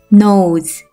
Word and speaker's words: nose: 장모음 O가 들어있는 단어를 살펴보면 맨 뒤에 오는 E는 발음이 나지 않는다고 했었죠? 모음 O가 오고 뒤에는 E가 오고 각각 앞에 자음 N, S가 오면 장모음 단어가 만들어지겠죠. 장모음 O는 어떤 발음이 나는지 기억나나요? 맞아요. O 발음이 났었죠. 이 단어를 한 번에 읽으면 nose, nose라는 단어가 돼요.